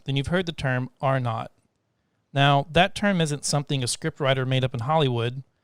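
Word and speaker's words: R₀: So R-naught, that's how you say it. When you see it written, it's actually a capital little R with a subscript little 0 after it. And so another word for zero is naught.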